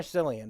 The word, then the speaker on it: Cillian: Murphy Javi how do you say his name Killian or Cillian Murphy yeah Liam that's what I thought Killian Murphy uh we had it we had a